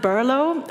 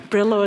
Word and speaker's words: Burlo: you like our beers we pronounce it burlo and it's actually the old Slavic origin of the name of Berlin but you know we also like other versions like Brillo is also fine or if you want